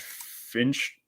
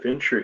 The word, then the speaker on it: Fincher: his favorite director I could be saying his name wrong is it David Finch Fincher finkner yeah David Fincher he directed Seven yeah dude this dude listen